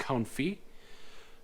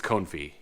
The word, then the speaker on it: confit: I had, I can't remember if you pronounce it Cown or Cone, but it's duck confit. And it was I think it's confit.